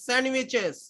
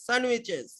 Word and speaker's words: sandwiches: স্যান্ডউইচ শিখাইনি, স্যান্ডউইচেস। ডি এর উচ্চারণ হয় না, স্যান্ডউইচেস।